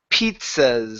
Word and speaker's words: pizzas: So when we pronounce this word, you need to add a P sound there. Pizzas, sort of like so. Pizzas. Oh, pizzas. Pizzas. There you go. Yeah, so that T is needed in there.